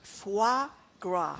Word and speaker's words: foie gras: Okay, this is always a tough one for me to pronounce. Foie gras.